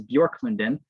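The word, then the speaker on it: Björklunden: also have two satellite campuses pictured here is bjork london yes that's how you pronounce that it's swedish for birch grove by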